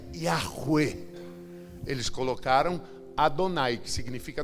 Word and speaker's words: Yahweh: Na hora de traduzir a Bíblia, onde tinha o tetragrama Yud, Rei, Vav, Rei, que se pronuncia Yahweh, eles colocaram Adonai, que significa dono, Senhor.